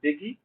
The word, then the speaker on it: Bigi: now goes by bigi so I think that will be pronounced biggie uh in court about